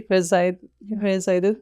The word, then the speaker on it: Verzijden: I hope that I pronounce it correctly, Dutch way, Verzijden, yeah.